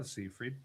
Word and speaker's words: Seyfried: Oh, Seyfried.